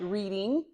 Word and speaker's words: Reading: spelled, yes, in Monopoly, and it's spelled like reading, Mm-hmm. like reading a book, but Mhm. it's pronounced Reading.